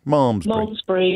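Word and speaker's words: Malmesbury: to Sam is in how do I pronounce that malmsbury momsbury yeah Sam what would you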